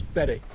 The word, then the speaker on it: Berwick: I think that's how they pronounce it. It's Berwick.